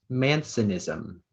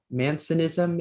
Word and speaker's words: mancinism: Your word is Mansonism. May I have the definition? Mansonism is the condition of being left-handed.